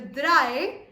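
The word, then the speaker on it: drei: three is called now if you pay close attention to the r of the dry then you will understand that we are pronouncing it differently we are not pronouncing it as instead we are pronouncing it as Germans pronounce R differently to learn how to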